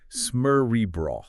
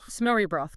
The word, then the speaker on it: Smørrebrød: Smørrebrød. Yes, and let's get to that pronunciation right out there. It's roughly Smørrebrød. Smørrebrød, guys.